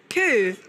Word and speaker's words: coo: So there is a belief that the phonic is C-O-O sounding, so a coo rather than a co.